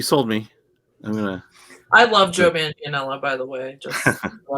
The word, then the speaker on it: Manganiello: type is Laurie, forgive me, I'm going to mispronounce his name, Joe Manganiello. Joe Manganiello.